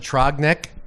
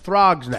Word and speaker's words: Throgs Neck: That's how you pronounce it? Trogneck? Throgs Neck. Throgs Neck? Yeah. We should go goof around like heavy rubbernecking on Throgs Neck. Yeah, Throgs. Throgs, Throgs Neck.